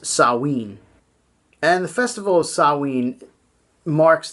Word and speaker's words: Samhain: Sam it was spelled Samhain but it's actually pronounced sowwy and the festival sowwy marks the end of